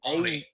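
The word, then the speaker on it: Aune: It's like Oni. Oni. Austin A-U-N-E.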